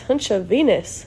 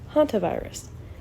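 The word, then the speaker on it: hantavirus: "What is hunchenus?" asked Larry. "So close, Larry." "It is pronounced haunt virus.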